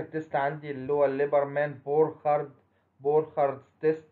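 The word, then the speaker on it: Burchard: بعد كده اخر تيست عندي اللي هو الليبرمان بورخارد، بورخارد تيست، ده راجل الماني، ليبرمان وبورخارد دول اتنين علماء المان، فعشان كده السي اتش بتنطق خ، بورخارد تيست للسترويدال نيوكليس، للشكل الايه، الاسترويدال نيوكليس اللي هي تحت اللاكتون رينج.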